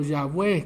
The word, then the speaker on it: Yahweh: Él está con Jehová, con Jehová o Yahweh, como posiblemente se pronuncia el nombre del Señor, con el Dios verdadero, con el Señor.